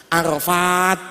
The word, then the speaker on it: Arafat: Arafah nama tempat tulisannya ain ro fa alif ta biasa, Arafat, begitu bacanya begitu.